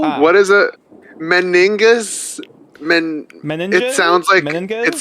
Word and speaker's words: meninges: Meninges?